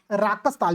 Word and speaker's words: राकस ताल: तो मानसरोवर के निकट राक्षस या फिर राकस ताल भी कहते हैं, राक्षस एक थोड़ा सा मुझे लगता है गलत प्रोनाउंसिएशन हो गया है वो, ठीक है, राकस ताल कहते हैं उसको, ठीक है।